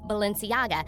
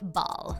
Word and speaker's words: Balenciaga: with Kim making fun of Kris Jenner for pronouncing Balenciaga and repeatedly saying the word Baal.